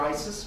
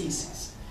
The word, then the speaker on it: Isis: is the Roman goddess EES we call her Isis but the proper pronunciation is EES what's in the jar that's not a water